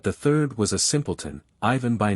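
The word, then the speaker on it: Иван: from the chernof government the accent falls on the second syllable of Ivan on the first of poof once upon a time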